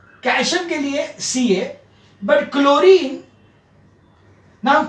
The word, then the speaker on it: chlorine: like calcium ca but chlorine now chlorine h is silent so that's why you